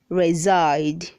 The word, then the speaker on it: reside: 359 says reside say reside don't say recite the letter s is making the sound z reside read 300 sexton